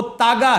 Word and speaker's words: तागा: वो तागा है। धागा को मिसप्रोनाउंस करते हैं धागा, तागा। एलिफ ता गा फलिफ गा।